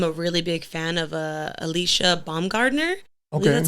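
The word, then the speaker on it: Alycia Baumgardner: but I am a really big fan of Alicia Baumgardner.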